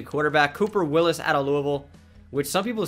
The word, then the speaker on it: Louisville: Cooper Willis out of Louisville, which some people say it's like, it annoys me when you say that. That's how the city is actually pronounced. It's not Louisville or Louisville.